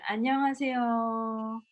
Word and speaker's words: 안녕하세요: on veut voir un air gentil en coréen, il faut dire comme si on chantait 안녕하세요. Le dernier mot, la dernière syllabe, on le dit un peu plus long.